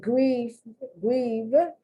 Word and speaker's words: grieve: And grieve, some people pronounce that V more like an F. So you have to be careful.